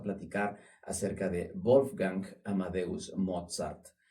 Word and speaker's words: Mozart: acerca de Wolfgang Amadeus Mozart. Y bueno, vamos a empezar directamente por su nombre. Wolfgang, eh, Amadeus, el gran el amado de Dios y Mozart. ¿Por qué pronuncio la Z un poquito más fuerte?